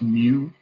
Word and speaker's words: mu: the mean is that funny looking u it's pronounced mu and it says it is less than two